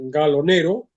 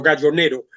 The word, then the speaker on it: Gallo Nero: El libro está publicado en España en 2012 por la editorial Gallo Nero. Pronuncio la italiana porque la novela tiene el origen, digo, la editorial es